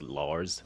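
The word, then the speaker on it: Larze: It's L A R Z E. Lars LZ. Although the I think the E is silent. H silent. So it's Lars.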